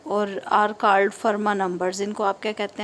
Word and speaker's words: Fermat: रहे हैं फर्मा नंबर इसमें टी साइलेंट होता है इसको हम फर्मा नंबर प्रोनाउंस करते हैं नंबर्स ऑफ द फॉर्म